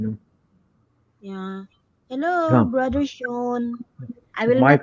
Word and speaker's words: Sean: brother Sean. I will Might not be. mention your name by Sia. Now it's Sean. Sean. Okay? Yeah. Yeah, No, because it's always correcting. It's Sean, not Sian.